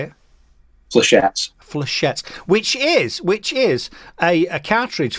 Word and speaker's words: Flechettes: Flechettes.